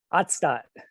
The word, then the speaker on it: Otstot: Ottstadt. Ottstadt.